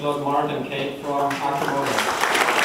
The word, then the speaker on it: Arcimoto: So the I is pronounced as kind of so it's Arcimoto, and it means arc